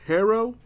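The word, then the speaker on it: Herro: here tyler hero baby although it's pronounced hero well let's let's let's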